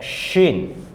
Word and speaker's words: shin: is called sin now shin if we give three nukta on sin it will be pronounced as shin now swat this is